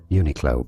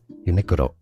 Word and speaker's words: Uniqlo: It said in English it accepted that in English it said unilo but in Japanese yes where the brand comes from originally it said as uniro is how they say it. That's how you should say it.